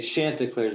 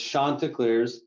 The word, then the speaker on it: Chanticleers: to do but i i used to say shanta clears but it's shontikliers and it comes from geoffrey chaucer of canterbury's